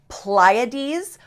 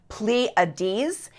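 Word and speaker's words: Pleiades: now I found articles saying the word is pronounced pades articles that says it's pronounced pleades and articles that said different versions I typed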